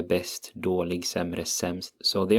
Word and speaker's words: bäst: And then you have bäst is best. It's pronounced almost identically, I would say.